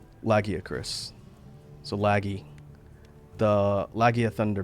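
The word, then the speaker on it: Lagiacrus: Thunderhorn or I should say it correctly now that we know the cannon pronunciation. Lagia Chris.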